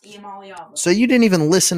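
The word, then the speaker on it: Iamaleava: know what you said but I know it's pronounced eala so you didn't even listen to what I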